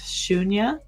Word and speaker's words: Sunya: the uh meaning of suna is inspired by uh the number zero which is actually pronounced shunya and uh I've always been really interested in zeros in circles.